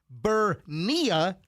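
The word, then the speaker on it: Ber-Niya: Then we have 20-year-old Bernia.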